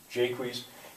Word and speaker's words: Jaques: but I I think maybe it's supposed to be pronounced as if it were English Jaques um uh he's a